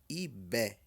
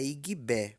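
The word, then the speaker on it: Ìgbé: em abril nasceu em ib ib não é igb pelo amor de Deus IB Gb tem som de B estour ah meu deus o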